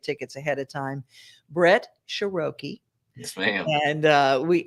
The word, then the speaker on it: Sheroky: that you get tickets ahead of time brett sharoki yes ma'am and uh we and don't mispronounce it sharoki that's right it's you know it's like vowel